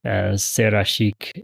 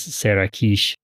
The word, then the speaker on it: Serashik: It seems last time we mispronounced Serashik as Serakish.